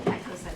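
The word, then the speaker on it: Petkovsek: Petkoset from the Community Law Center on behalf of Brewers Hill Neighborhood. Tell me your last name again, please. Petkoset. How do you spell it? P-E-T-K-O-V-S-E-K. Oh, Pet.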